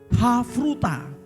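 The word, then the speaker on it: חברותא: itu dibagi yang namanya havruta Anda bisa lihat di dalam layar anda tulisannya pakai CH cabrutan Tapi bacanya itu havruta havruta itu artinya persahabatan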